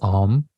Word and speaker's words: Om: the mantra that is Om, right? Om, Om. I encourage you to practice it as 3 or 4 syllables rather than just 1 syllable.